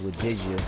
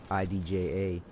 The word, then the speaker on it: Wadidja: You know, like I said, the PSN ID is Wadidja, Wadidja. It's spelled like this. Like, what did you say? What did you do?